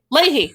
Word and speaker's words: Leahy: Leahy, thank you.